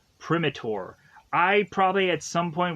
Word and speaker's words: Primator: have called this monster Primator because I assumed that Primate would be an interesting way to kind of connect me with this monster, but come to find out the way it's pronounced, it's Primitor.